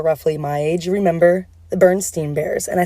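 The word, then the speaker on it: Berenstain: if you are roughly my age remember the bernstein bears and i say bernstein's because that's how it's pronounced i don't give a what anyone says about the burned stained bears what and if you were broke like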